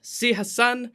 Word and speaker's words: Si-Hassen: I'm really excited to please let me introduce Si-Hassen, maybe better known as. Welcome. Hey, hello. And you didn't actually you pronounced my name well.